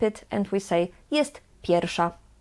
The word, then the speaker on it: pierwsza: Here the "w" we pronounce as "f". "Jest pierwsza." But actually in natural speaking, we just skip it and we say: "Jest pierwsza."